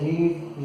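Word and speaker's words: read: और जैसे कुछ वर्ब ऐसी होती है इसके तीनों फॉर्म सेम होते हैं, जैसे रीड, रीड, रीड। मगर इसको अपन पढ़ते कैसे हैं, रीड, रेड, रेड।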